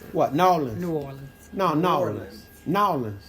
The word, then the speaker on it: New Orleans: pronounce it. What? Nolans. New Orleans. No, Nolans. Nolans. New Orleans. It's New Orleans.